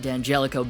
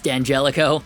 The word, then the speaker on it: D'Angelico: comments about the pronunciation it's not d'angelico it's danjelico but anyways we move